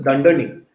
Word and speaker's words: dunder: right so this is Dunder name the way you would pronounce this is you would say Dunder name and this just stands